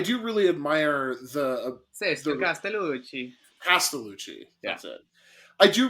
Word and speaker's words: Castellucci: I cannot pronounce Italian last names, but I do really admire the Castellucci. Castellucci.